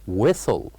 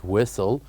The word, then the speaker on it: whistle: we have the word whistle whistle where we pronounce uh uh the word Whistle by keeping without saying the word or the letter H we keep it silent whistle whistle and also